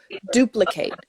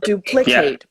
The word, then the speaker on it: duplicate: and duplicate the flow duplicate not duplicate but duplicate if you listen to where the word is stressed and you stress that part of the word too then the pronunciation is fine he's good yeah you're